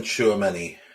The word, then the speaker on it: Tchouameni: It's I can't even pronounce his name. Tchouameni, is that right? Aurelien Tchouameni.